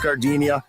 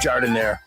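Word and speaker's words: giardiniera: And guys, when you're at the counter, don't call it gardenia. It's pronounced jardiniere.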